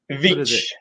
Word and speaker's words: Veitch: Please help us in welcoming Veitch. Hey guys. Did I pronounce it right, or is it Veitch? Veitch. Veitch. Don't worry. Okay, Veitch.